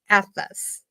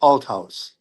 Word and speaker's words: Althaus: Please welcome Atlas. Hi. You were close with the last name. It's pronounced Al House, but you're close enough.